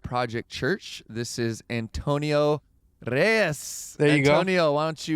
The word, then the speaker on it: Reyes: I love how you roll your R's. Reyes.